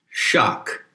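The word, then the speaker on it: sak: sacrilege is the word shock which is generally spelled s a k but the s is pronounced with an h and shock is a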